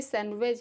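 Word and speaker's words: sandwich: this सैंडविच और savage ये सैंडविच है इसमें डी साइलेंट है नॉर्मली डी साइलेंट होता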